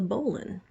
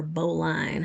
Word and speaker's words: bowline: uh this one is the bowline or bowline however you want to pronounce it this is the uh